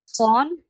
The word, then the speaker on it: von: ভন ফন বিশ, ফাও না এটা, তাহলে ফন উচ্চারণ হবে।